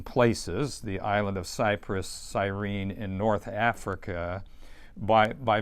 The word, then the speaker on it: Cyrene: of cyprus and cyrene or maybe you pronounce it cyrini but i think it's cyrene right right you're the